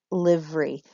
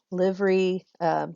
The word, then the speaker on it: livery: Livery could be livery, as I have it in 2 syllables, or it could be livery. So it could be 3 syllables. Metrically, it fits as 2 syllables, so I'm going to use that.